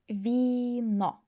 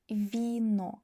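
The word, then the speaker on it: вино: But we have i so v should be soft. vino vino vino This is the difference.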